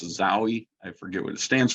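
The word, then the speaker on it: XAUI: these there's also an older one this is pronounced zowie i forget what it stands for it's an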